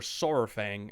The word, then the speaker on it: Saurfang: Varrock Saurfang, or Saurfang as it's supposed to be pronounced, is a legend amongst the Horde, and a lot hold him in high regard.